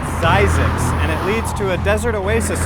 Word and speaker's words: Zzyzx: probably noticed this exercise it's pronounced zysics and to a Desert